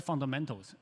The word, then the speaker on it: fundamentals: The L is at the end of the unstressed syllable. So he didn't pronounce fundamental, right? He said fundamental.